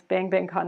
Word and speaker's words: Bang Bang Con: So we pronounce the name of this conference Bang Bang Con. It's written with 2 exclamation points.